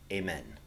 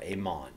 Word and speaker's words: Amun: This was the worship to the god Amen, or Amon. It's sometimes pronounced Amun.